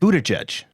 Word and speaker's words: Buttigieg: It's Pete Buttigieg.